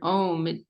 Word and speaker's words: Om: And this word, we can just perhaps mention this word Om. It has different connotations. It's actually 3 syllables, right?